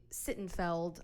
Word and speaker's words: Sittenfeld: okay so it is by Curtis sit and sit and felt I don't know how to pronounce his last name it's s-i-t-t-e-n-f-e-l-d romantic comedy